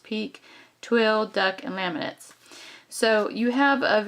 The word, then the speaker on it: pique: pinwheel corduroy and pique Epperly that's how that's pronounced peak twill duck and laminates